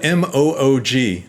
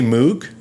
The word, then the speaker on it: Moog: His name is spelled M-O-O-G. It's fun to say Moog, but apparently the correct pronunciation is Moog.